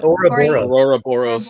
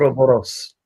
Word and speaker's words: Ouroboros: How do you say that? Aurora Boros. Yeah, the snake. Ouroboros.